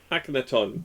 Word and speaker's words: Akhenaton: Econon? How do you actually pronounce it? Akhenaton, yeah.